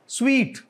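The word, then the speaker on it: suite: formula है अच्छा जी what is this स्वीट hotel स्वीट जैसे होता है यू नो मतलब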